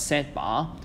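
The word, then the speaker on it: z̄: iy, then set conjugate, or we pronounce it as set bar, equals to x minus iy.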